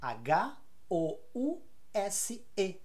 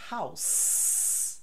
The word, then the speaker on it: house: eu falo com s House se for o verbo abrigar fornecer uma casa ou fornecer um abrigo eu falo com z House E aí fica housed e housing enta aqui se a palavra house como verbo é novidade